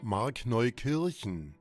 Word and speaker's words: Markneukirchen: Apparently, there's a small town in Saxony called Markneukirchen. By the way, I'm definitely pronouncing that wrong. Here's how Wikipedia says it's pronounced. Markneukirchen.